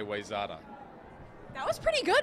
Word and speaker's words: Wayzata: Well, I would say Wayzata. That was pretty good. It's Wayzata.